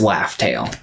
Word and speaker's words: Laugh Tale: alert the fact that raftal is actually pronounced laugh tale with because you got